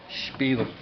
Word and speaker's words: spiel: Extra pronunciation on the SP, spiel.